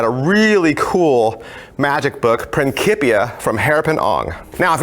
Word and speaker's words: Principia: the title is Principia and they know it's Principia because that's how they pronounce it in the trailer pretty kitty I